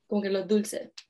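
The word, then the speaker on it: dulces: phrase in puerto rico you'll pronounce it tulsa and um that's an example of the aspiration of an s at the end of the um as a final consonant so where other countries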